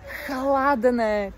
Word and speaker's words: chladné: Dnes je chladné počasie. Ch. Chladné to znamená studené, pretože slovo hladné znamená, ak chceme jesť. Takže je tam veľký rozdiel a preto na výslovnosti záleží.